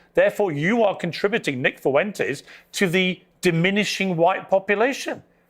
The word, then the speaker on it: Fuentes: Therefore, you are contributing, Nick Fuentes, to the diminishing white population. I'm confused. Why does he make it 3 syllables? Fuentes. Fuentes. Fuentes. Fuentes. Not Fuen.